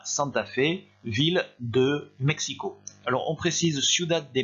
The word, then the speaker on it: México: Alors, Mexico, attention, le X se prononce comme ça, mais uniquement pour ce qui concerne le Mexique.